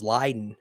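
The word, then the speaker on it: Leiden: and i think that the pronunciation of the town is lyden that they uh that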